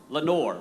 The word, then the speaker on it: Lenoir: Lenoir. Did I say that right? Lenore? Lenore. Okay, I'm sorry, I'm from the coast, so we pronounce that a little differently.